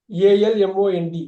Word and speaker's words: almond: அந்த எள்ளை எப்பயும் உச்சரிச்சிட கூடாது.